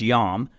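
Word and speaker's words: iam: often in Latin text you would see the word j a m jam it was actually pronounced yam and uh today they spell it I am but back then in our Latin textbooks it was spelled j a in Latin I and J are the same letter or they they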